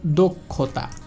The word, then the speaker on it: দক্ষতা: যদি শব্দের মাঝখানে অথবা শেষে থাকে তাহলে এর উচ্চারণ হবে কখ। যেমন দেখেন দক্ষতা, পরীক্ষা, এটা দেখেন মাঝখানে রয়েছে তাহলে অবশ্যই এর